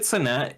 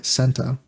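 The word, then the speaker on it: Cenat: and kaat possibly yeah is it satat or am I still saying it wrong is it senta yeah which which one's the right one because I I don't remember s it's uh senta senta okay Kat uh he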